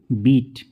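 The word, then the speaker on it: beat: हम क्या करते हैं बड़े ई की मात्रा से पढ़ते हैं जैसे कि बी ई ए टी इसे हम पढ़ेंगे बीट एच ई ए टी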